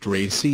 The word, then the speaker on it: RACI: RACI pronounced RACI is a type of REM that derives its name from the responsibility designation that's given to each role activity combination.